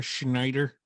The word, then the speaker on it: Schneider: Is that how you pronounce it up there? Schneider? That's right.